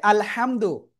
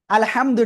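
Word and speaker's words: الحمد: দেখেন আলহামদু এই জায়গায় মূলত যে হাটা রয়েছে সেটা হলো এই হা। এখন এই হাটার পরিবর্তে যদি আমাদের আল হাটা গলাটা চেপে পড়তে হয় সেটা যদি আমাদের উচ্চারণটা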